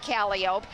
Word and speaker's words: calliope: to be seeing and hearing the beck family cali ope wagon and yes in the circus you do pronounce it calliope it was recently acquired by circus world with